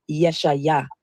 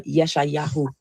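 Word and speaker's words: ישעיהו: The funny thing about the name Isaiah is many people don't know that the true Hebrew pronunciation of Isaiah is Yeshayah or Yeshayahu.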